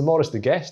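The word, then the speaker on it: Maurice de Gheest: So it's the Maurice de Guest if you listen to the commentator.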